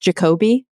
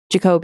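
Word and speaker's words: Jacobi: Crumpler Mary putam um is it pronounced jacobe jacobe yeah jacobe yeah and and you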